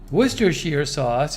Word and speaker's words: Worcestershire: have my volume on you're probably hearing this worcestershire sauce worcestershire sauce oh i was right worcestershire sauce is a pungent sauce containing soy sauce and